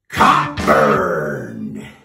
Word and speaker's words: Cockburn: Shakespeare questioned by Nigel Coburn we prefer to pronounce the name as it is spelled Cockburn because it metaphorically conjures